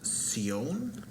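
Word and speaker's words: Sjón: by robert eggers and sione i think is his name it's a mononym um obviously a scandinavian pronunciation right is uh spelled s-j-o with an accent n yeah presumably that's where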